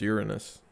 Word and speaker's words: Uranus: I feel like I went through a fast portal to Uranus and back. It's pronounced Uranus.